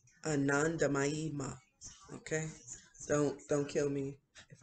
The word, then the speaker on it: Anandamayi Ma: Okay, I think this is pronounced Anandamayi Ma. Anandamayi Ma.